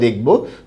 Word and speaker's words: দেখা: clear হতে পেরেছেন আচ্ছা এরপরে আরেকটা নিয়ম আমরা দেখব যদি একারের পরে সাধারণত একার বা এর পরে